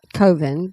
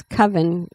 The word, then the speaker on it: coven: I think it should be pronounced coven, but a lot of people think it's coven. I guess if you take off the C, oven is spelled O-V-E-N, so I can see how you could say coven. But if you take off the N, the C-O-V-E is cove.